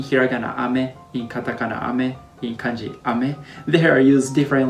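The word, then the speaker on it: 雨: and this this is ame and this is ame so they are almost same pronunciation but meaning of each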